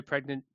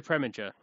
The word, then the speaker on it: Preminger: Hurry Sundown, Otto Pregnant. I can never say his name properly. Otto Preminger, thank you.